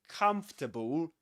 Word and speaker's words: comfortable: So you will actually say this comfortable comfortable and you don't pronounce this one.